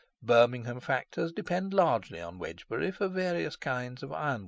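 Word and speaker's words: Wednesbury: to the coal trade in heavy Freights wbury pronounced wedgbury and spelled wedner Berry in Doomsday Book stands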